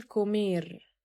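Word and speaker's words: comer: تصريف الفعل كومير، كومير. هنا نطقنا الثي ك كاف عشان بعدها حرف الأو.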